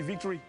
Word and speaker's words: Victry: la prononciation reste la même, juste il y a le O qui bouge. Mais nous on dit ici victory. Ouais. Ça passe aussi un victory, victory.